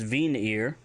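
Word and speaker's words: viinir: If you want to say run, it's vinir, V-I-I-N-I-R, vinir.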